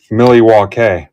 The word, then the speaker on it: Milwaukee: Milly walk is how it's pronounced.